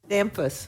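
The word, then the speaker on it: Damphousse: Okay, then we will move on to Texas State University President Kelly Damphus. Thank you. Rhymes with Memphis, Senator Zaffarini tells me.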